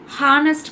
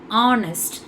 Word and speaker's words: honest: ஹானஸ்ட் கிடையாது, ஆனஸ்ட்.